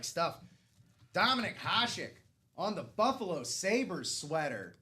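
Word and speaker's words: Hašek: Putting my pronunciation skills to the test. It's Dominic Hashik.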